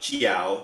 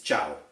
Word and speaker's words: ciao: uh you know uh people that say it's not chiao it's ciao and it takes a